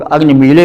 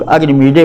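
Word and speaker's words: अग्निमीळे: उच्चारण में काठिन्य हो जाता है, इसलिए कुछ लोग इसको ला करके पढ़ते हैं और कुछ लोग डा करके पढ़ते हैं, मुख सौख्य के कारण कि लॉ और डॉ के बीच का उच्चारण बड़ा कठिन हो जाता है।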